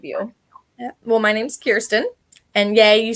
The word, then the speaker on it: Kirsten: Well, my name's Kirsten, and yay, you said it right.